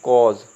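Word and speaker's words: cause: कट क्या बोलते हैं कट जो इसका सही उच्चारण है वो क्या है कट ठीक है ऐसे ही बोलते हैं कॉज क्या बोलेंगे इसको कॉज इसे बोलेंगे नोटी नोटी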